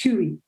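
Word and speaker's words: хуй: word dick which is uh in russian it's pronounced huey an expletive that frequently appeared in graffiti and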